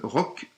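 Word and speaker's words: Рок: la bande-annonce du film Rock, POC, non POC c'est Rock aussi, ça s'écrit POC parce que c'est le P qui se prononce R en russe.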